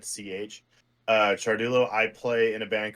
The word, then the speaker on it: Ciardullo: those of you that don't know how to pronounce my last name charul that would be me yeah it's it's Italian so just like cha is spelled that's how it's said CH uh Chulo I play in a band called carcosa I